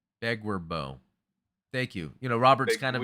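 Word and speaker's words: Beguir-Beu: Okay, how is it pronounced? Begwerbo. Begwerbo.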